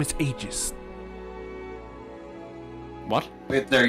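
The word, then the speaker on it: Aegis: you my name is AIS what wait there your name is AIS aist like I think that's how you pronounce it properly oh okay yeah I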